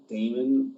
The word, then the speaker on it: Daymond: My name is spelled Daymond Raymond, but with a D.